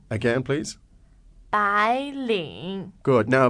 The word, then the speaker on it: 白领: 白领 Again, please. 白领 Good.